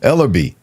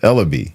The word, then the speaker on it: Ellerby: I said it right the first time. Ellerby. That's how you say it. Ellerby.